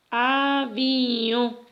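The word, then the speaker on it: aviõ: Y aquí tenemos una O nasal. Esta es una O que tiene la marca de la nasalidad y se lee avión.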